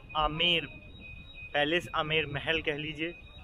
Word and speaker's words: Amber: इसकी स्पेलिंग थोड़ा सा कंफ्यूजिंग है, AMBER, और इसको पढ़ा जाता है बी इज़ साइलेंट आमेर, ठीक है। तो इंग्लिश में से आम्बेर या समथिंग पढ़ने की कोशिश ना करें, ठीक है। ये this is only आमेर, AMBER the pronunciation of.